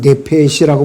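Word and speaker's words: נֶפֶשׁ: 그리고 히브리어 발음은 네페시라고 발음하는데요.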